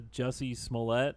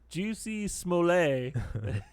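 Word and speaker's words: Jussie Smollett: he talks about the Jesse smollett remember you know him the but cuz the way it's spelled he calls this is this French guy juicy Smollet everyone has you can tell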